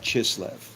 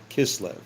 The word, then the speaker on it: Kislev: So now it happened in the month of Chisv. Kislev maybe if you want to pronounce it right.